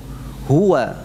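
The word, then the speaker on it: هُوَ: Jadi bukan huwa tidak ya. Ingat pengucapan huwa ya, bukan huwa. Huwa tidak, huwa, wa. Itu ya, maksud kami apa? Pengucapan wawunya itu benar-benar dari apa? Bibir, syafatain ya, makhrajnya syafatain ya. Bukan diucapkan dari jauh seperti alif, huwa, enggak.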